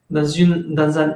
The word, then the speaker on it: eu: Pero si es el verbo avoir en un tiempo pasado, porque generalmente esta grafía solo se encuentra en el pasado de avoir, se pronuncia como si la E no existiera, es decir, U, U.